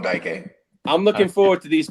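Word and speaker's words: Dike: Man, no, you said it right. We call him Daike.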